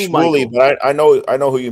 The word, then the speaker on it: Shmuley: So you know, Smoley, the rabbi, the Zionist rabbi. Of course, I know who you're talking about. Yep. Yeah. So I think it's pronounced Shmuley, but I know who you mean.